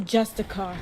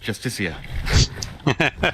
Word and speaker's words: Justiciar: He's a Justicar, a Thalmor. It's pronounced Justiciar.